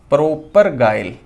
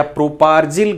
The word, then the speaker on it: propargyl: तो इसको बोलते हैं प्रोपरगाइल ग्रुप, प्रोपरगाइल ग्रुप या प्रोपार्जिल ग्रुप भी इसको बोल दिया जाता है। प्रोनाउंसिएशन अलग अलग है, कोई प्रोपरगाइल को प्रोपार्जिल ऐसे बोलते हैं।